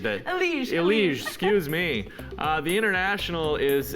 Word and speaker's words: Elige: It's a sad one, and it's from CSGO Pro Eligi. I butchered that. Elige, excuse me.